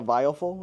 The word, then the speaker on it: Viofo: picked up a dash cam, the VOF, is how you say it.